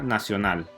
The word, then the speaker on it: nacional: ejemplo la palabra 'nacional' esta palabra tiene tres sílabas primero nada segundo opción y tercero nada si edita la palabra nacional notarás una vez más que la última sílaba final lleva la mayor fuerza y como resultado es la sílaba tónica entonces la nota